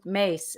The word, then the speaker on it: Myss: good she's greek uh so mace is prone is spelled myss and at one point